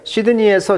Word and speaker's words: Sydney: 발음을 이 D가 거의 묵음처럼 말을 하더라고요.